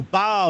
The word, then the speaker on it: Bao: a couple years ago oh Bow yeah or you think about a dog Bow Wow Wow that's right uh there's been a lot of uh different interpretations of my name and pronunciations and so um I like to remind people to spell it B AO rather than you know autoc correct will change it to B OA oh yeah don't you